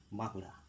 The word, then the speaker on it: বাঁকুড়া: নর পরিবর্তে এন ইংরেজিতে কিন্তু আমরা বানটা আমরা বাংলা উচ্চারণ করবো একটু নাসিক্য দিয়ে বাকুড়া